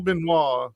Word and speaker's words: Benoit: today we're gonna be uh speaking with Daniel benois did I pronounce that right yes absolutely yes it was